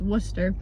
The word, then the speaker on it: Worcester: 1 week in Worcester, which is actually Worcester, not Worcester, so I've been saying it wrong my entire life. It's Worcester.